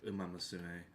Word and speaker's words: Umamusume: For context, at the Game Awards, Sidney Goodman, when revealing the award for Best Mobile Game, she kept fucking mispronouncing it as Uma Musume. Which is, It's Umamusume.